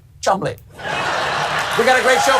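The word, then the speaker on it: Cholmondeley: Oh, sorry, I'm being told it's actually pronounced Chumley.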